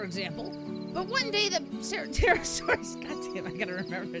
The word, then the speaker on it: Pterosaur: Pterosaur? The P is silent.